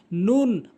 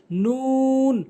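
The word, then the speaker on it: نون: মিম মিম নুন ভুল উচ্চারণ। নুন ভুল উচ্চারণ সঠিক উচ্চারণ হচ্ছে নুন। মুখটা গোলাকার করে নুন এভাবে উচ্চারণ করবেন।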